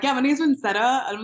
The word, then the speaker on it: Vincetta: So Yeah, yeah, like now I'm like, yeah, my name's Vincetta.